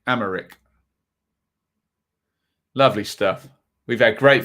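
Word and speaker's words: Aymeric: Sorry, not Emmerich. Amaric.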